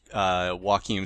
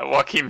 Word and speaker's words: Joakin: Or his real name is Joakin Sandberg. Joakin Sandberg. And I was like, wait, that is a J that should be pronounced as a W, right? I'm pretty sure, like, Joaquin Phoenix.